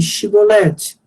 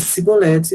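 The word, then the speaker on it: Shibboleth: Como tinham dificuldades em pronunciar o hebraico, CH, os gileaditas lhes diziam que pronunciassem Shibolete. Se eles pronunciassem Sibolete, eram mortos. Então, o correto era Shi, mas eles não falavam CH, eles falavam Si.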